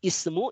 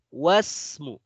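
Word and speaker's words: اسم: Tapi kalau dia di tengah, tidak diberi harokat kasrah lagi. Wasmu, wabnu. Ya.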